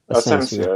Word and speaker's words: Asensio: Asensio, I think is how you pronounce it, isn't it? Is that how you pronounce it? Asensio, yes. Yeah, Asensio.